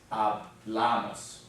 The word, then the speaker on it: hablamos: But on this one, because it adds a few syllables, we end up with second to last, because it ends in an N, an S, or a vowel, so it's hablamos.